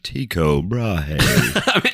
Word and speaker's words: Tycho Brahe: Um, but it's spelled t y c h o b r a h e. So it looks like taicho brahi. But anyway, I'm I'm I'm going with Julian's pronunciation of Tiko Brahi.